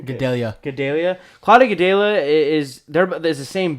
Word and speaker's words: Gadelha: Gadelha.